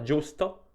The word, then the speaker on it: giusto: o nel nome Giovanni G iu si legge giù come nella parola giusto oppure nei nomi di